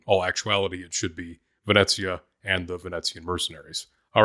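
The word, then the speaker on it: Venezia: of the planet wrong, which means I also pronounced the name of the uh Janiseries or the mercenaries wrong. Later on, I said Venicia, but it really should be Vanetsia.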